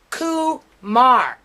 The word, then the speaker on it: Kumar: i was talking to let me pronounce his name correctly koo mar that's his last name